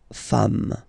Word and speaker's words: femmes: S at the end, and as we said, you don't pronounce it, so you get des femmes, okay?